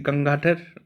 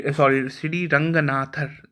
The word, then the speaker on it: Ranganathar: And this example is from the Sri Gangathar temple. Sri Ranganathar. Sorry for the pronunciation mistake.